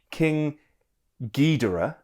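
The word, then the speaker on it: King Ghidorah: He said this as well that it's pronounced King Gedora as in geese. G as in geese.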